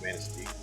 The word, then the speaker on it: Manistee: can pronounce correctly because it's obviously a French word and it is Manistee.